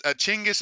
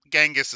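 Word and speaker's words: Chinggis: chingis I G genas chingis is the correct way to say it but gangus is more welln you got you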